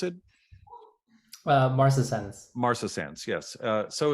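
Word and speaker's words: marcescens: this um David it's serratia how do you pronounce it uh Martha sentence Martha Sans yes uh so it's a rare opportunistic species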